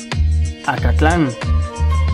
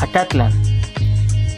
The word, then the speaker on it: Acatlán: por mencionar un ejemplo muchos lugares cuyo nombre en náhuatl aún sobrevive se suelen pronunciar como si fueran palabras agudas producto de la castellanización cuando en realidad eran palabras graves por ejemplo cuautitlán cuautitlán